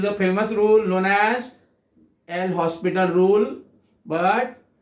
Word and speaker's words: L'Hospital: This is a famous rule known as L'Hospital rule, but L is silent, so it is known as the L'Hospital rule. The L'Hospital rule. H is silent, not L.